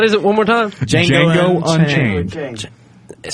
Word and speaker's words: Django: Have you seen Django?